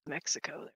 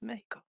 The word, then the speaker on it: Mexico: Mexico does. Which one? Mexico? Mexico, Mexico. Mexico. Yeah, I grew up on the border. You don't call it Mexico. It's Mexico. That's right.